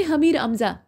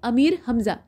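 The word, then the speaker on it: अमीर हमज़ा: हुए प्रश्न संख्या 30 दास्ताने हमीर अमजा या दास्ताने अमीर हमजा ठीक है असल में अमीर हमजा ही है इसमें प्रोनाउंस आपको सही करना है तो आपको यह बताना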